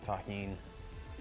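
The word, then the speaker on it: tahini: Shout out to everybody that knows the deliciousness of taheen. That's how you pronounce this.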